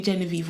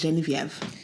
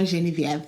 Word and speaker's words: Geneviève: you don't know me, I'm now going to start pronouncing myself as Geneviève.